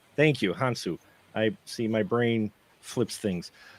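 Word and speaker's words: Hounsou: you know I'm horrible with this but with husan um hu with huh hansu thank you hansu I see my brain things hu I wanted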